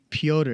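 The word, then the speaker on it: Petr: you peter peter yeah you got to miss the e right how do you say it pyotr yan people pewter pewter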